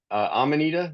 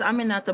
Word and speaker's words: Aminata: And is it Amanita? Did I pronounce it right? Yes, it's Aminata, but you can call me Amina.